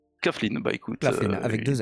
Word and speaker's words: Claflin: On en profite pour revoir Mosley, justement, qui est toujours admirablement interprété par Sam Claflin, que je ne connaissais pas avant cette série, mais qui gère la fougère, comme on dit, non?